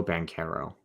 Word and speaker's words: Banchero: Paulo Banchero. And I knew I said Chero. I remember it's Caro.